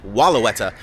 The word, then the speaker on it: Wellawatta: At first, I thought it was pronunciated Wellawatta, but now I believe it is actually Wellauwatta.